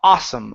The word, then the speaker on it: awesome: to the word awesome instead of a awesome okay take off that ooh sound it's only a awesome awesome laser tag awesome